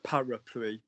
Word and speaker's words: parapluie: So your first word, Nick, is parapluie.